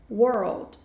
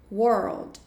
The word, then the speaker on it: world: som na palavra Word world world world como se você juntasse a palavra Word com o l com a pronúncia de L world world Ok beleza